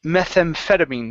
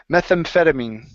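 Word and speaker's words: methamphetamine: this big one here this is pronounced methampetamine metham methampetamine methampetamine there you go one more time methampetamine methampetamine okay um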